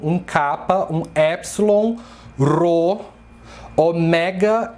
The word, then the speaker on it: ômega: E o ômega, tomem cuidado quando vocês pronunciarem essa letra grega, porque em grego se fala ômega e não ômega, como os brasileiros falam. Ômega, ômega 3. Em grego não, é ômega a pronúncia. É uma paroxítona e não uma proparoxítona.